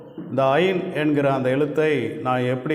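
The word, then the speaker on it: עין: இந்த எழுத்தை ஐன் அப்படின்னு உச்சரிக்கிறோம்.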